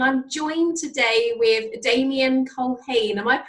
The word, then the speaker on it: Culhane: I'm Lorraine from You'll Know When You Get There, and I'm joined today with Damian Culhane. Am I pronouncing that right?